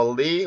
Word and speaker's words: early: 뭐 early, world, curly 이런 단어가 있는데 여기는 발음기호상으로 다 R, L 발음이 연속적으로 되어 있어요.